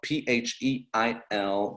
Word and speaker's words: Pheil: You can stalk her on the internet, Erin Pheil, Pheil. That is the correct pronunciation.